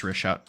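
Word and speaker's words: Richat: Yeah, it's rishot. Rishot. It's r i c h a t.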